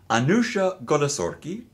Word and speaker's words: Anooshah Golesorkhi: to Welcome to the San Diego Opera podcast anusia goori did I pronounce it correctly yes you did absolutely who